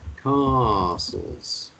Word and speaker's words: castles: all about castles um you need to pronounce these words like a car you know castles cars it's true yes there